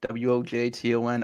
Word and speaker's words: Wojton: No, I just try to phonetically say it in a way where people will kind of Wojton, silent J.